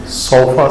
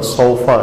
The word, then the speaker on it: صوفہ: صوفہ عربی زبان میں صوفانہ, سین واو فے, فے کے اوپر زبر ہے, اس لفظ کا تلفظ صوف نہیں ہوتا, صوفہ ہے, زبر کو پڑھا جاتا ہے, باوجود اس کے کہ